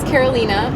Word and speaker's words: Karolina: but my name is Karolina it's spelled like the state Carolina but it's not pronounced the same I'm actually named after